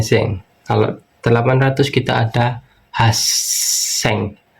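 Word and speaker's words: 八千: Kalau 800 kita ada haseng. Haseng double s haseng. Haseng.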